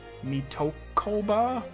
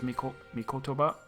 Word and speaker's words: Mikotoba: I feel like I keep saying Mitokoba, but that's not it. It's Mikotoba, I guess?